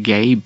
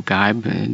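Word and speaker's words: Geib: But what happened is that in 1786, an Irishman called John Gabe, I think he's pronounced Gabe or Gibe, G-E-I-B, patented what's called a double action.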